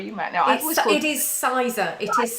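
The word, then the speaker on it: Sizergh: In Cumbria, I'm not quite sure how it's pronounced, actually. Sarah, you might know. It is Sizer. It is Sizer Castle, yeah.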